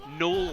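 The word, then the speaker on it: Gnoll: Knoll Camp. Yeah, I like Knoll. I think that's maybe what it is. Knoll Camp. McDuff85 also pointing out that's what it is. Knoll Camp. The G is silent.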